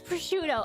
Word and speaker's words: prosciutto: It's prosciutto.